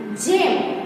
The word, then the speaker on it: gem: GEM यानी जेम, तो इसका है, इस पे राइट आएगा।